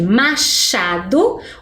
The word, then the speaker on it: Machado: quando a gente escreve Machado o som fica muito parecido com x não é mesmo mas Machado tem um segredo é com ch Machado e agora dado